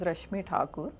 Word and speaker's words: Rashmi Thakur: actual name pronunciation is Rashmi Thakur.